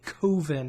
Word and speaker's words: Coven: no budget horror movie called a coven or excuse me covin as they ridiculously pronounced it and it's gonna be